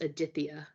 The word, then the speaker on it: Aditya: really struggled with and it was Aditya so it's spelled as a-d-i-t-y-a but there's like that nice th in there and I and I